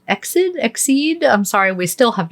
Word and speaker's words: EXID: And you had it right. It's EXID. EXID. Because okay. it stands for Exceed in Dreaming. Oh, nice. Okay. Yes. I like it. So EXID. Good. At least I know I'm saying it correctly.